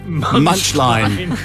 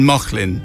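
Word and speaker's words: Mauchline: Robert Burns National Monument but it's spelled m-a-u-c-h-l-i-n-e which I in my ignorance had read as much line yeah so Flynn was just calling his family in mocklin and I just haven't worked that one out how this happened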